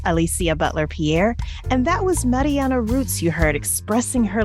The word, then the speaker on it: Marianne: My name is Marianne Rutz, and it's actually pronounced Marianne the German way, kind of a bit of a giveaway, but I'm not German.